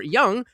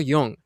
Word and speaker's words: Jung: Young, which is the same word, not Carl Young, but Carl Yung. So young. Oh, it's it's young in America. The point is it doesn't have an um lot.